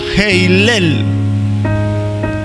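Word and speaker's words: הילל: ustedes tienen la palabra escrita en hebreo se pronuncia heilel o sea Lucero lo que nosotros leemos en la Reina Valera como Lucero en el hebreo es heilel que significa brillantez brillante pero cuya raíz hebrea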